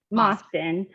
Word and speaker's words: Mosten: She's also recently partnered with mediation legend Forrest Mosten. Did I say his name right? Mosten, yes.